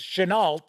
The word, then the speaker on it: Chenault: be honest I was going to interview Stephen Chenault and Davis Chenault and yes that is how their names are pronounced because I thought it was should know but is Chenault I had it all set up uh last